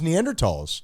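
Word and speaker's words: Neanderthals: that it is the the actual pronunciation is neander TS all right we can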